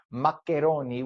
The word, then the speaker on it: maccheroni: It's maccheroni, which is the way it's spelled and pronounced in Italy, Maccheroni.